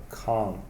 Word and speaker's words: can't: Can't. That's right. Yes, I can. No, I can't. It's a longer vowel sound. The same sound as car.